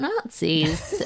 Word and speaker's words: nazi: a z i although it's pronounced Nazi just like Winston Churchill used to say, "We shall fight them on the beaches, these dreadful Nazis."